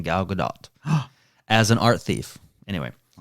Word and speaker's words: Gadot: a con man and gal gadot good godot no i've heard her i was waiting for you to correct me but that's not how you say it i've i listened to the trailer and that's how she says her name gal gadot as an